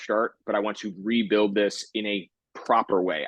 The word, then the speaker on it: RBLD: Fitness right that's right yeah yeah um it's pronounced rebuilding the word rebuild um the premise being you know kind of